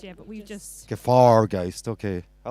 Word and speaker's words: Gefahrgeist: Gefahrgeist, yeah, you did. I yeah, that's right. did. It's not how Germans say it, though. They say it like Gefahrgeist, yeah, but we've just. Gefahrgeist.